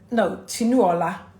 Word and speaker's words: Tinuola: Tinuola, that's how you pronounce it.